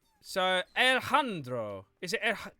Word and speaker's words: Alejandro: The J is just usually pronounced like a H in most Spanish things. Oh, it's pronounced as a H, is it? J is pronounced as a H. So, Alejandro.